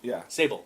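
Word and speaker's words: Sabol: right he pass Sab Sable it almost sounds like Sable but Sable yeah and uh he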